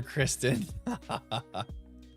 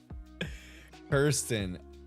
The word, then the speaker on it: Kirsten: Oh, it's Kirsten. And he always calls her Kristen. Kirsten. I see it now. K-I-R, not K-R-I.